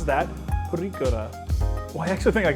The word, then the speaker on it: purikura: they're called, as best as I'm able to pronounce that, purikura.